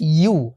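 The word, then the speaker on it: يُ: হ্যাঁ, সো আমরা আসলে যে ভুলটা করি যে আমরা ইয়া পেশ বলি উ, বাট এটা মনে রাখবেন যে ইয়া পেশ ইউ, ইয়া পেশ ইউ, বাট হামজা পেশ উ, অর্থাৎ হামজা পেশ উ, কিন্তু ইয়া পেশ উ না, ইয়া পেশ হচ্ছে ইউ।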